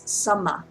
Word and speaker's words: samma: It's samma. Samma. Samma. How do you spell that?